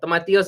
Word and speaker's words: tomatillos: Jay says, I love the way you pronounce tomatillos. Well, tomatillos is how we say it in Spanish.